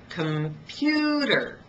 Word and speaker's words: computer: take the word computer computer has three syllables or three Beats but if you can notice I only stress one of them computer can you tell which one I stressed it's the middle one computer and did you also notice that on the first and third syllables I reduce them and I reduce them so much that I lost the vowel listen again computer that's